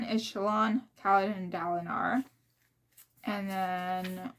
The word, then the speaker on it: Shallan: Shallan, I pronounced it as Shallan, which is the correct way to pronounce it.